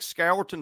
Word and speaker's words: Scourton: Is it Nick Scourton or Scorton from Purdue? Scorton. Just Scorton.